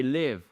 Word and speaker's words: live: Si vous dites I leave, je pars. I live home at 8m each morning. Je pars de la maison à 8h chaque matin. Mais vous avez aussi we are now live. Alri live leave live.